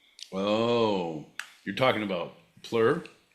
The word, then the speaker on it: PLUR: And I'm sorry because when you when you get deep enough into that culture, I'm sorry, it's actually pronounced plur.